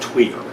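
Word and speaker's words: tuyère: were using a um it's pronounced twer a twer system a series of pipes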